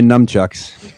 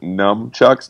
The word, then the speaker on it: nunchucks: see I'll bring my nunchucks the fact that you pronounce it numb chucks makes me think you're